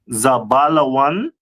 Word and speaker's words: Zebulun: Uh the next one is uh Zebulun, the tribe of Zebulun. Uh which is from Guatemala to Panama. Mhm. In Hebrew it pronounced as Zabalawan.